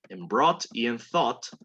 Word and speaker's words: thought: Recuerden que en brought y en thought, no suena para nada la UGHT. La GH normalmente no suena cuando tengo T a continuación.